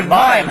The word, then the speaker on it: mime: I always say, you know, before I said the word, I say, I've got to say it right. I'm not going to say mime. That's probably wrong. It is mime. Right. It's from pantomime. That's how I'm going to Right, it's one of those French things. Yeah. But somebody told me in France they say meme.